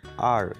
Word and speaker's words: 二: we will learn what is the difference between r and liang the number two can be pronounced as r for liang r is used